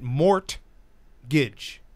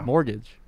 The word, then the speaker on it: mortgage: He pronounces it mort-gidge. Not if you listen to Thursday night's championship show. Say it. Give it a shot right now. Mortgage.